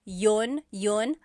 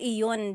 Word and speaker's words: iyon: You might hear people say, ginawa ko iyon dahil mahal kita, but usually the letter I sound is dropped.